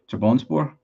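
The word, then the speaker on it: Trabzonspor: It's pronounced Trap Sunspore. Trap Sunspor. Is it Trabonspor?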